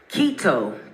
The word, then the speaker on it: Kito: Kito, pronounced like a key and a toe, wants you to know it's an honor for her to play, sing, and flow at such an amazing show.